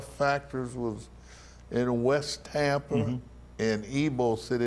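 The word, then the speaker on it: Ybor: was in Westhampton in ebo City as many people come here from out of town they thought they should pronounce it as Weibull mm-hmm yeah well those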